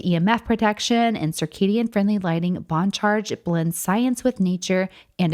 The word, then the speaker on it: BON CHARGE: That's spelled in all caps and pronounced Bon Charge.